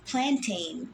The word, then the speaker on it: plantain: It is a wild grass and it's called plantain, just pronounced and spelled like the cooking banana.